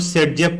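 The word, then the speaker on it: Zaitsev: वो जेटसेव रूल, जेटसेव होता है, और प्रोनाउंसिएशन में से हम लोग सेटजेफ पढ़ते हैं।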